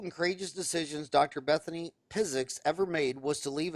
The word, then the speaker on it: Piziks: interviewing incredible dentists Bethany physics it's it's a physics with a p uh right you pronounce it physics and you tell me